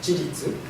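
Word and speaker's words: 自律: It's pronounced jiritsu.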